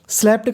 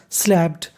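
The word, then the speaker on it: slapped: अब देखिए यहाँ पे P 2 बार लिखा है लेकिन हमें उच्चारण एक बार करना है, और आखिरी में ED है तो ED को पढ़ना है हमें डा। क्या पढ़ना है? डा। स्लैप्ड, थप्पड़ मार दिया।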